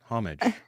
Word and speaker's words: homage: always makes me giggle H Mo I mean homage yeah it sounds like I don't know why but like when I hear people mispronounce stuff it makes me think of the